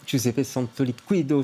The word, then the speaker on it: Giuseppe Santoliquido: Giuseppe Santoliquido, je prononce bien?